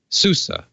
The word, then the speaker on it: SUSE: Debian you can go and get open SUSE Susa Susa I remembered how to pronounce that but yes there are little gamers